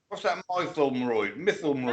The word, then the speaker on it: Mytholmroyd: Mukbang again, or however you pronounce it. Yeah. What's that Mytholmroyd?